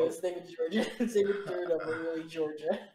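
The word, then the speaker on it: Đurđa: It's pronounced Georgia. Is it? That's so weird. It's spelled D-U-R-D-A, but their accent it's pronounced Georgia.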